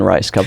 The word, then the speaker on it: Rajskub: to get into but once you know it's just two words I kind of like